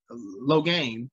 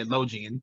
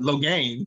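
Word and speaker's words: Logain: massimo uh i'm sorry low gain i always say login but low gain you heard them say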